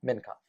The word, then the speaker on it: Mincov: Mincov. Mincov.